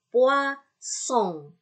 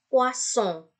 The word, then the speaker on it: poisson: Très bien, poisson. Ya, S-nya 2 di tengah-tengah, dia terbaca S. Jadi ini poisson.